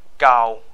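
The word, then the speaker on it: 九: Gao, gao is nine. Gao. So there's a word in Mandarin, gao, meaning high, or yeah, high. So that's it. Really, is close down to it.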